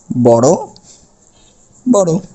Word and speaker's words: বড় বড়: মনে করুন বড় বড়, তাহলে আমাদের উচ্চারণ করতে হবে কি কি, বড় বড়। অর্থাৎ শেষে যে অগুলো রয়েছে, যেমন বড় অ, এই অটা ও হয়ে যাচ্ছে, বড় বড়।